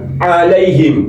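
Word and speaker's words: عَلَيْهِمْ: Ini ain alaihim. Kalau dibaca alaihim nih kalau dibaca alaihim berubah alif. Ini hurufnya ain. Alaihim. A a alaihim. Kalau dibaca alaihim berarti enteng berarti alif.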